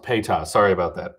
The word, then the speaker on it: PETA: I know there's been bugs and there's been like it's pronounced PETA. Sorry about that. PETA.